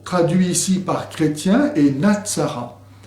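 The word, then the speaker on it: نصارى: Le mot traduit ici par chrétien est Natsara, dont la prononciation évoque bien sûr Nazaréen.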